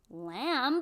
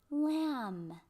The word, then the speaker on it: lamb: but we don't say lamb no we don't say that this bee is silent it's like it's never even there so we say um like lamb you pet your hand